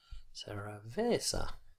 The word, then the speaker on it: cerveza: on any syllable, and with Spanish and Italian it's the second last syllable which always carries the stress. So it's spaghetti, cerveza, cappuccino, as you probably already know.